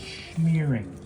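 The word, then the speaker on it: schmearing: Smearing, I think it's called pronounced shmearing.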